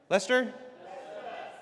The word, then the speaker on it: Leicester: How do you say it? Is that Leicester? Lester. Lester.